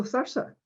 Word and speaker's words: Thurso: If you look at Thursa there, interestingly enough, people in Thurso pronounce Thurso Thursa.